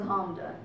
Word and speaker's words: Hamda: nickname my name is honda two syllables clap it out if you need to